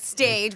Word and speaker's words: Stage: It's spelled like stage, but it's Stage.